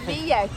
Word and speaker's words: Villette: So, this is the Villette Lake, or Villette, right Carol? Yeah! I think technically it’s pronounced "vee-yet".